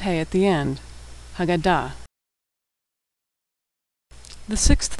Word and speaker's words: Haggadah: Hey is the first and last letter of the word Haggadah, the book we read at Passover Seder, what most Americans call a Haggadah.